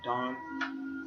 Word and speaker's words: Dan: And Dan's name in Hebrew is, you just pronounce it Dan or Don, and it means judge.